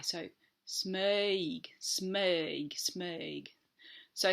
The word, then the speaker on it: Smøyg: actually let's start again we don't say smoke I say that as an Australian smog is spelled SM I with a slash through it yg the O with a slash through it is an earth sound and then we've got that Y which gives scizor you as well so